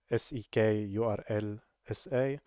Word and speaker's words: sekurlsa: I don't know how people pronounce this secur secur uh many people just say s e k url sa however I I prefer sec urls sa lo on passwords so